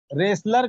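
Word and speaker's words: wrestler: रेसलर कहते हैं दोस्तों पहलवान को, रेसलर, देखिए इसमें टी साइलेंट है।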